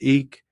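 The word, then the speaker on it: Ik: The second harmony color is white represented by ack pronounced eek and it means wind.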